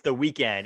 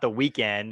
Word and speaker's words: The Weeknd: It's The Weeknd, and he spelled it the way that he spells it. It's not The Weekend, and it's spelled like WEEKEND, because The Weeknd doesn't have a second or third E.